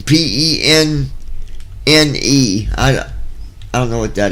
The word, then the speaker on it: penne: Peen. P-E-N-N-E. I don't know what that is. It's penne. It's pronounced penne.